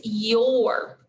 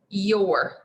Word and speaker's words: your: Now, I would circle the Y if I could because it is pronounced yeah, as you would expect. And I would underline the letters O, U, and R because that's the tricky part of the word. You would probably expect these letters to be pronounced but they're pronounced or.